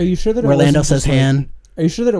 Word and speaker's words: Han: part where are you sure they in else's hand are you sure that it wasn't just like a mispronunciation like the Berenstein bears theme song pronounces